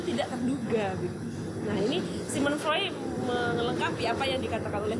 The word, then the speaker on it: Sigmund Freud: Nah, Sigmund Freud, maksudnya Sigmund Freud, bacanya Sigmund Freud.